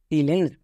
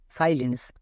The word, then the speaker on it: silence: না, ভুল। এখানে আয়ের উচ্চারণটা আয়ের মতো হবে, কারণ আয়ের লং সাউন্ডটা হবে। যেমন সাইলেন্স, আইটা ভাওয়েল, এলটা কনসোনেন্ট, ইটা ভাওয়েল, মানে VCB রুলে পড়ছে। VCB রুলে পড়লে কি হয় লং সাউন্ড হয়, তাই আয়ের উচ্চারণটা আ হবে।